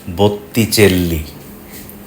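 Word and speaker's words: Botticelli: সেটা উচ্চারণেও চলে আসে এখানে দুটো টি আছে বলে নামটা বুত্তি আর দুটো এল আছে বলে নামটা চেল্লি ইউরোপের অন্য ভাষায় কিন্তু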